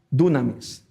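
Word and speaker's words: δύναμις: transliteración de esta palabra poder del griego y pronunciada con nuestro abecedario es dunamis Qué significa una fuerza literal o figurada específicamente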